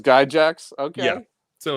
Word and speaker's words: Gygax: But ask Wesley how he says Gygax. So, I don't know if we can go with this is Guy Jacks. He says Guy Jacks.